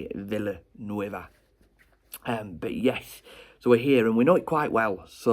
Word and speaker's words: Villanueva: actually it's the right way to say it, Villanueva.